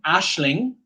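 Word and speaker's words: Aisling: This one, Ashling.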